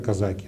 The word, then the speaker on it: казаки: Ну, например, вот возьмем такой пример казаки, да? Казаки, где у них ударение? Оба ударения.